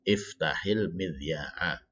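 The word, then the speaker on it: افتحِ المذياع: Ya, iftah al-midya'a menjadi iftahil midya'a. Ya, iftahil midya'a. Haknya kenapa dibaca kasroh? Karena dia bertemu dengan sukun lagi ya.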